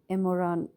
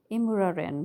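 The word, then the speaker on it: Imouraren: for Orano at the Imran. Here I'm going to make a mispronunciation. It's Imuraren mine.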